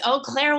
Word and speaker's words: Eau Claire: Eau Claire, am I pronouncing your hometown correctly? Yes, Eau Claire, Wisconsin.